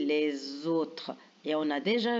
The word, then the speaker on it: les autres: autres là regardez bien on fait la liaison les autres la lettre S elle est entre deux voyelles alors quand la lettre S est entre deux voyelles on la prononce Z et on dit les autres et on a